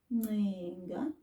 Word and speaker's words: ncenga: Now let's listen to the NC sound. To beg or to plead. Ncenga.